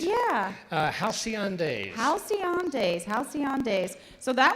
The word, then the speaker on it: Halcyon: Hallison? On the 8? Yeah. Halcyon Days.